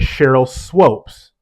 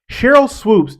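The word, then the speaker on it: Sheryl Swoopes: with with me is when you say someone's name wrong he refers to her as Cheryl swopes Cheryl swoops is not um I've mentioned Cheryl swoops in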